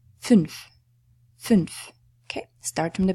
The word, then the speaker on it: fünf: An umlaut is pronounced as "u", fünf.